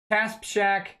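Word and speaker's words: Kasperczak: Euler 108 says, Kasperzak is pronounced as Kaspshak.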